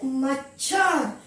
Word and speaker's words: मच्छर: उच्चारण पर ध्यान दीजिए, मच्छर। इसमें च भी है और छ भी है, मच्छर।